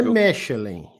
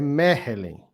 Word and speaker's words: Mechelen: Não é Mechelen, é Mechelen. Se escreve Mechelen, mas, né, com CH, mas segundo o Carlão, Mechelen, o jogo de amanhã,